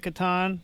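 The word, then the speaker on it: Catan: official pronunciation or is I believe it's Katan um I interviewed the uh CEO of Katon Studios and he said Kat so I figured if he called it Katon that's probably right that is probably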